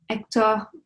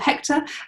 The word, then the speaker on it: Hector: So like ectctor um is my French pronunciation or Hector um to use the English one.